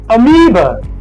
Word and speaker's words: amoeba: This letter A is not pronounced A. It is pronounced U. Very weak. Followed by the long E, the vowel E. Then we have another weak syllable. So it's not a mob. All right, it is amoeba.